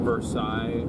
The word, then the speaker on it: Versailles: Versailles is how it's pronounced.